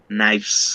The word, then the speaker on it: knives: this okay remember jesus you don't have to say the letter k so it's knives can you repeat yeah